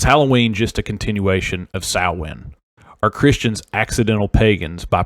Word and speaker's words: Samhain: That's pronounced Samhain, not Samhain.